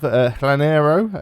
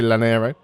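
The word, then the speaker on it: Llanero: It's probably not Hlanero because double L in is Closest to me, the place that's pronounces double L is Wales, which is a hl sound. It's not going to be that, so I'm just going to say Lanero.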